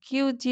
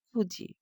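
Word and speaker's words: 九時: ইয়ন ইয়নকে আমরা বলছি ইয়োজি, শিচিকে বলছি শিচিজি, নানা বলা যাবে না এবং কিউজি বলা যাবে না, বলতে হবে কুজি।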